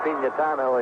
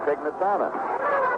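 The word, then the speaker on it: Pignatano: Letters used to come in from people saying it should be pronounced pinatano and Joe said he preferred Pnitano.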